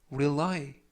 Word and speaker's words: rely: 이번 표현은 rely, 라고 발음하시면 되겠고요. 이때 강세는 뒷부분에 있는 y에 강세가 있습니다.